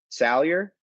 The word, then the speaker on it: Salyer: let's see what dan had jamari saw no pronunciation for the last name sawyer jamari sawyer boom never going to forget it sailor sawyer sailor salyer salyer jamari salyer someone's going to clip this